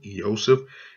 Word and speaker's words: Yosef: 2501 and it says the correct transliteration he is Yosef there's the pronunciation Yosef and as you can